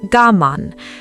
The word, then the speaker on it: gaman: Alongside Mimamoru sits another concept, gaman, pronounced gaman, written with 2 characters, one meaning to endure and one carrying the meaning of a self that persists.